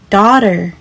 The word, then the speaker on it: daughter: 美式发音 daughter daughter daughter，英式发音会比较接近 daughter daughter。